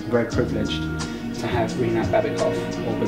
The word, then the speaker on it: Baibekov: And for that reason, outside the Square Gallery, it is very, very happy, humble, very privileged to have Rinat Baibekov, or Baibekov, as it's properly pronounced, as one of the collection of artists that we have outside the Square Gallery.